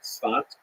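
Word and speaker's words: Tzfat: the northern Israel city of safed pronounced in Hebrew spat oras uh this is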